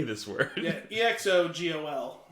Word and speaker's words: Exegol: Yeah, EXOGOL. G. I was hearing a C in there the whole time. Oh, I mean, it's G. That's a little hard.